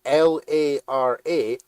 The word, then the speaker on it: Lara: literally spelled or no it's literally spelled L A R A which is pronounced Lara there's a [ __